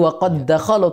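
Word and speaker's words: وقد دخلوا: kalau ketika sendiri ya namun ketika setelahnya ada huruf Dal maka tidak qalqala langsung masuk berlaku hukum idgham jadi waqad dakhalu tidak perlu waqad dakolu sering salah berarti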